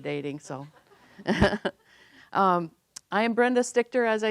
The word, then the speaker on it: Stichter: to you tonight brenda stichter thanks she did a great job saying my name the right way everybody says it wrong and i said my